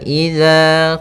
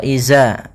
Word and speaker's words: إذا: Pada bacaan wa idza qila lahum, hati-hati dalam pelafalan huruf dzal, jangan sampai ini merubah menjadi huruf zai. Yang mana di sini harusnya adalah dzal, bukan huruf zai. Jangan diganti dengan wa iza, tapi dia huruf dzal.